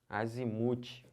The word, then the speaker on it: azimute: a outra aqui ó azimut azimute é o muque a sílaba tônica tô falando que são